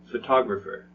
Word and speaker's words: photograph: for now yeah Photography photographer photographs which one sounds different that's right it's the last one photograph because where's the stress photograph mm-hmm that's right first syllable and how about photographer